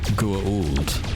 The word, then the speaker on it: Goa'uld: It's pronounced Goa'uld.